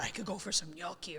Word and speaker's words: gnocchi: me hate it and they can't pronounce it right like yeah yeah ganaki so that's what I'm